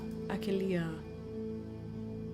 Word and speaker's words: Achillea: Let me go back to Achillea. I just want to pronounce it like Achilles, with emphasis on kill, but it says no. It says all leaves.